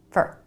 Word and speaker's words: for: let's take for example this word for fully pronounced it's 4 but most of the time in a sentence Americans pronounce it for really fast with the reduced vowel fur fur so if you're